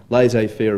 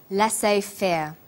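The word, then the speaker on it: laissez-faire: he uses the phrase lass Fair lass fair is a borrowing from French it closely reflects the pronunciation of the original language and the original spelling do you know the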